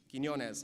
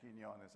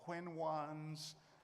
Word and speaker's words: Quiñones: to pronounce you know people even at ABC people have trouble saying Quinones I've been called Quinn ones with no needs but